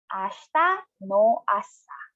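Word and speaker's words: 明日の朝: Now slowly, per syllable, kesa, this morning. Now, for tomorrow morning, ashita no asa.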